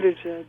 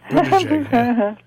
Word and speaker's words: Buttigieg: Buttigieg. Yeah, Buttigieg. Yeah. Think of boot, and JPEG.